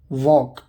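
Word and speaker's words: walk: Example देखिए, वॉक, यहाँ L silent है मतलब चलना।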